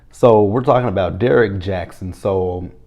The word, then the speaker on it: Jaxn: So from what I'm gathering is Derek Jackson, which his last name is spelled Jaxn. The hell? Because I kept looking at his last name, I'm like, is that supposed to say Jackson?